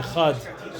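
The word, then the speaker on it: אחד: So you see by over here that there's a very careful dikduk with the Echad, should be pronounced properly because the Dalet is so fundamental to Mamlech Hashem.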